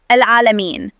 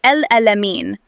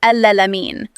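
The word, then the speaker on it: العالمين: Number 2, al-alamin. A common mistake here is to replace the ayn with a hamza and say al-alamin. Or some people skip the ayn altogether and recite it as al-alamin.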